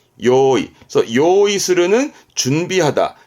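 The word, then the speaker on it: 用意: 뭔가 준비성이 철저한 사람이거든요 그래서이 한자는 준비를 의미합니다 발음은 요이 요이 그래서 요이 스는 준비하다 잘 씁니다 요거는 득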